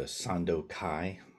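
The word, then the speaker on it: Sandōkai: Um, there's a famous a Chinese Buddhist poem called the Sandokai. Um, Although that's actually the Japanese pronunciation of the title of it, but the original title is something like the equality of difference and sameness.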